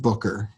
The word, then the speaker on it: Booker: as Rob Booker the Boomer spam even it's pronounced Booker Oh Rob is man he's a number of